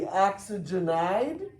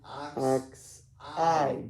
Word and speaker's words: oxide: Would it be oxygenide? Not quite. They actually make it Oxide. You drop the G.